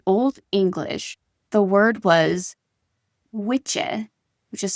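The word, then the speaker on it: wicce: So, in old English, the word was witcher, which is spelled w i cce e, and it was meant for a woman.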